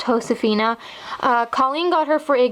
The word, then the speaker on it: Josefina: was like my favorite doll that year is Josefina or properly pronounced ho Safina Colleen got her for a good report card